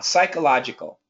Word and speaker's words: psychological: a psycho okay and in this case don't don't say psychological try and keep it short psych psychological so it